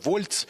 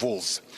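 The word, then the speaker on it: Walz: уолзем теж хочу зауважити В пресі вже почали говорити вольц почали говорити волц Він сам про себе каже він сам вимовляє своє прізвище як волз а отже що нам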